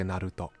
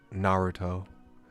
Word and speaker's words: Naruto: do for some like I say Naruto Naruto instead of Naruto um I have a